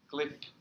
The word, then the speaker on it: glyph: Glyph is it with the short I glyph icons.